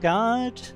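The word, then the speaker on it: Gaard: Champion of Guard. The double A usually indicates an extended sound. So guard.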